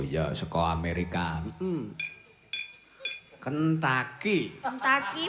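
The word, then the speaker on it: Kentucky: Kentaki bacanya. Tulisannya beda.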